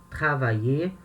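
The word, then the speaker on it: travaillé: Quando o verbo termina em ER, a pronúncia do verbo no infinitivo e do verbo no particípio é a mesma, tá? Travailler, infinitivo, trabalhar. Travailler, particípio, né?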